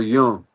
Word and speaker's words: Jung: real name is Carl Jung. So the J is pronounced as you are saying it with a Y.